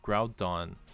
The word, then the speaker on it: Groudon: Rhydon rhymes with Groudon.